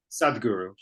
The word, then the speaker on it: Sadhguru: Sadhguru. Sud. How do you spell it?